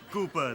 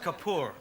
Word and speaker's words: Kapoor: So, how is Master Cooper these days? It's pronounced Kapor, right?